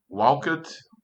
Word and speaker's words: walked: So as you can hear, when you pronounce these words, we have that T sound at the end. So that's why there's a T there. So we say walked and hoped.